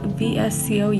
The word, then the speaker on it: VSCO: picture and I go on vs see Oh vsco yes that's how you pronounce it and I just basically make it